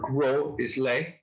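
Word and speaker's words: Gros Islet: gross is lit uh or grow islay it's g-r-o-s-i-s-l-e-t so i think it sounds like a french it sounds like a french kind of caribbean pronunciation yes the the language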